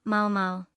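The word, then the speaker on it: Maomao: A Mao Mao se le pegó por una sencilla razón, este nombre también se pronunciaba Mao Mao.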